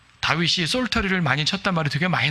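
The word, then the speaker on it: psaltery: 그러니까 구약에 종종 등장하는 악기가 솔터리라는 악기가 있어요. 여기도 역시 이제 영어에서는 P를 빼고 발음해요. 솔터리.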